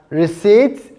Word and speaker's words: receipt: It is silent in both A and B because it is pronounced as receipt and pneumonia.